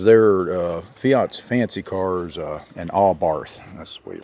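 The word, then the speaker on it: Abarth: And like I said, it's not even because they're Fiat's fancy cars, an Allbarth. That's the way you pronounce it, Allbarth.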